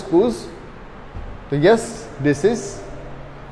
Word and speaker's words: coups: Okay, this pronounced as coups.